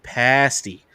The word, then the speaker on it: pasty: or is this and she goes oh it's pronounced and then like phonetically pasty and she goes and